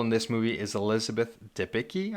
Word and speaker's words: Debicki: Another actor playing a big role in this movie is Elizabeth Debicki, I think is how you say it. Debicki. Debicki is how I would say it.